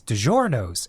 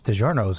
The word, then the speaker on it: DiGiorno: You mean DiGiorno? Okay, again, don't be rude. DiGiorno. No, it's in the United States. It's DiGiorno. No one in that commercial is saying DiGiorno. No, it's well, if you want to make it authentic, you have to give it the right pronunciation.